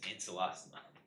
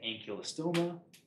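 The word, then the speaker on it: Ancylostoma: learned it, which is ancelostoma. All right. You can say ankylostoma, ancelostoma, or it's not even just like the, is it hard C or soft C, is a long O or a short O, but it's also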